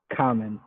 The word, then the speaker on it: comment: Comment. Common. Okay, without T sound again. Right. So why do we have to spell it? The T. We never use that. Well, you would use it in the plural form, comments.